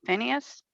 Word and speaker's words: Phineas: on the west side of the jordan river vienna finis how do you say it phineas yeah the son of elizor what did he